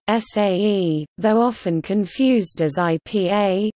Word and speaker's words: sage: On some message boards, users can choose to sage, correctly pronounced SAE, though often confused as IPA, said a post if they wish to make a post, but not bump it.